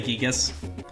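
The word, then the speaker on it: Giygas: I know a lot of people say Gigas, and yeah, it's perfectly valid, but Gygus is just how I heard it pronounced the first time, so that's how I say it.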